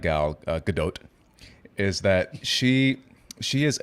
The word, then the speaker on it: Gal Gadot: why is everyone saying gal gadot it's gal gadot there's a strong t at the end as it's pronounced in hebrew it's gal gadot it's gal gadot i